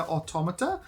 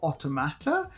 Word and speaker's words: Automata: like the sequel to Nier Automata, or Automata, as I always say it. I actually said it right the first time then. Why did I recorrect myself with the incorrect one?